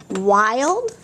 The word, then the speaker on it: wild: It should be short vowel. But here's that other part of the rule. An I followed by an LD also.